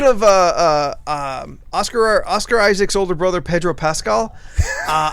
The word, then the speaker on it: Oscar Isaac: has something to say it's oscar isaac there is no s at the end i mean i've been